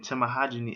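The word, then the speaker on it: tamahagane: And Tamahagini is used to make the steel in swords in Japan.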